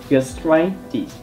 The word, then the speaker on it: gastritis: Khi mà các bạn phát âm các thuật ngữ kết thúc bằng -itis, các bạn hãy nhấn trọng âm vào -itis, gastritis.